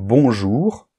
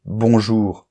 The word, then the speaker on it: bonjour: ok remarque partie 2 dans un mot comme bonjour ou un mot comme allz tu vas me dire ah mais bonjour Je ne prononce pas le N bonjour Je ne prononce pas le U mais ça c'est différent c'est parce que ici le O et le N dans bonjour ou le O et le U forme ce qu'on appelle un moi j'appelle ça une combinaison de lettres on le verra dans